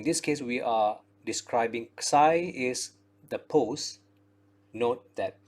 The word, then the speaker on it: psi: this is the same greek letter which we pronounce as psi and x i b means the pose of